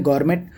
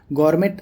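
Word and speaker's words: gourmet: अगला ऑप्शन है गॉरमेट। गॉरमेट a critical जज ऑफ फूड, खाने के पारखी को गॉरमे कहते हैं दोस्तों, इसको प्रोनाउंस करते हैं गॉरमे।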